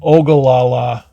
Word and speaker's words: Ogallala: And then after that, we stayed in another little KOA for a couple days, and I'm not quite sure of the pronunciation. It's Ogallala.